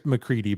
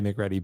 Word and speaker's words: MacReady: but by the way I'm pretty sure it's mccre by the way the name is pronounced so my apologies I always I always say mcre but I get it wrong but I'm thinking of